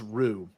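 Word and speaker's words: Roux: Miller's novel right yes Rue um spelled like Louisiana it's R O uux I think I'm being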